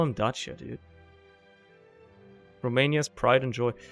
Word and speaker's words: Dacia: It's actually Dacia. I'm just gonna call it Dacia. Fuck the English, man. They pronounce words wrong.